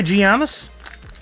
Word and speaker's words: Giannis: care for him either Giannis is pronounced with a Y at the beginning why gianis that didn't sound right I know what you